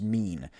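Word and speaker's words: mien: That word is pronounced mean.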